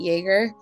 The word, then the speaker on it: Yeager: funline absolutely yeah my name um is joerger not spelled like the alcohol but uh fun and um